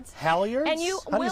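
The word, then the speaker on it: halyards: They're called Howiards. Howards. And you will spell that.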